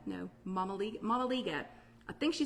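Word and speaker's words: mămăligă: called, I'm not going to say it right, Malaga? No, Mamaliga.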